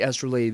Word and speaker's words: astrolabe: about is his passive the astrolab right or the astrolabe if you prefer that pronunciation now it's really important